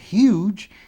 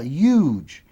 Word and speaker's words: huge: Aqui, ao invés de ser huge, fala huge. Então, as duas pronúncias estão corretas.